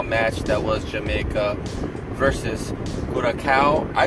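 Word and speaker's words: Curaçao: Jamaica and Curacao are coming up.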